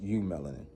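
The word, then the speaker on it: eumelanin: Pronounced U-melanin, have a deeper connection with the unseen, rhythm, intuition, and natural elements.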